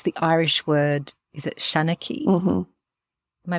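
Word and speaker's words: seanchaí: And it's the Irish word, is it shanachie? Mm-hmm. Am I pronouncing it?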